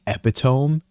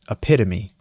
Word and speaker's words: epitome: God, another word that would always mess me up is epitome, because the way it's spelled, you would read it like epitome, but it's epitome.